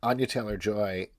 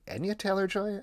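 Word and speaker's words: Anya Taylor-Joy: thing going around where Ana Taylor Joy Anya Taylor Joy I think that's how you actually pronounce her name was doing an interview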